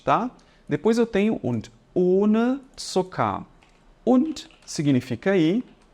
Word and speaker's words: ohne: Então, vendo essa letra H aqui depois do O, ela prolonga o tempo em que eu devo ficar pronunciando o O ali. No caso, ele vai ser um O fechado e ele vai ser longo. Então, eu falo ohne, demorando um pouquinho mais, tá bom?